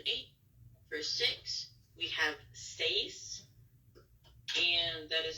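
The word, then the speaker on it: seis: six seven and eight for six we have stays and that is spelled s-e-i-s you hear that uh face so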